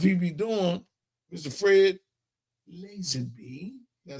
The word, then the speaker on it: Lazenby: Fred Lazenby. Did I say it right? He got it down. I couldn't say it. He's Lazenby.